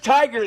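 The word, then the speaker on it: Tigar: I'm not sure how to pronounce it, but No, it's Tiger.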